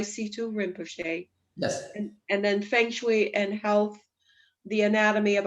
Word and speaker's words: Feng Shui: The Feng Shui and Health, Feng Shui, Feng Shui, Feng Shui, it's pronounced Feng Shui, and Health, The Anatomy of a Home.